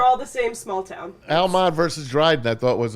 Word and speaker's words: Almont: 502 miles from Altamont. Altamont. I'm doing that on purpose now. Forget it. I'm never even going to pronounce it the right.